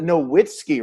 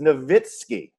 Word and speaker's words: Nowitzki: steen not stein stein it wasn't nowitzki right it was novitskiy yeah nowitzki yeah let's